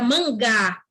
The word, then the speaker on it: mangá: fala Sebastião literário e fica Mangá Aí já tem diferença no som além de ser um nome de um gênero ele tem diferença no som na pronúncia Essa daí é só com manga mas a escrita é